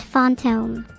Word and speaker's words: fantôme: In French, it translates to fantôme, pronounced fantôme.